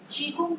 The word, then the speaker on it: Qigong: Uh, it's though it's spelled Qigong, it's pronounced as Qigong, and it's a Chinese.